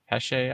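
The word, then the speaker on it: Pêche: I'm near, is it Pesce Island? How do you pronounce that? Pesh.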